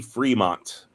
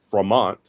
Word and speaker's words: Fremont: If you go to Fremont, California, it's spelled Fremont, but they say it's Fremont. Fremont High School. Fremont. All the places named after John C. Fremont say Fremont even though his name is spelled Fremont.